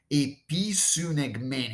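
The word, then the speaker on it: ἐπισυνηγμένη: It's a pretty difficult word to pronounce because it's compound. It's made up of different pieces. All right. So there are two prepositions baked in this verb. There's the preposition epi, and there's the preposition sun.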